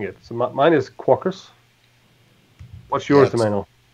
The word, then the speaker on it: Quarkus: it so mine is caucus what's your Ximena - this like Spartacus so it's Quackers but you know I'm